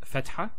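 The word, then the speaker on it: فتحة: So, we have the first harakat, which is fatha. Now, for example, when we say the word cat, notice the A sound, a. It's a a sound. Cat, a.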